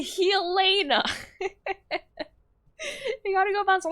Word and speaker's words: Helena: It's pronounced how now brown cowna. It's actually Helena.